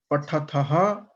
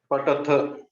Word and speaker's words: पठथ: No, I'm saying tha. See, you have to pronounce the second letter. Mahaprana is not coming out directly. You are telling ta. I'm telling tha. You are telling ta. You have to change it.